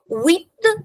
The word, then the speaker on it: huit: Huit, H is silent here.